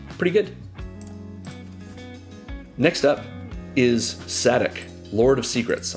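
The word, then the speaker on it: Szadek: I believe it's Sadek. I believe that's how you pronounce it. Some people say it like there's no S, like it's Zadok, but I think it's Sadek.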